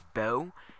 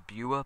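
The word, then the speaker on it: Beua: It was about a boy whose name is, I think it's Bo. It's spelled B-E-U-A, which I thought was Bua, but I guess it's Bo.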